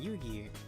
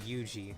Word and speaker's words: Yugi: Why is Suika and Yugi? I keep wanting to pronounce it Yuji, but no, it's Yugi.